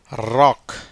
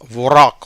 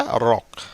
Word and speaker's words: wrack: அப்போ அந்த டபிள்யூக்கு என்ன இல்லை? உச்சரிப்பு இல்லை.